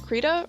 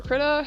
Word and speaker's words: Krita: on my pc is krita or krita however it's pronounced uh i've always said create a creda yeah um it's completely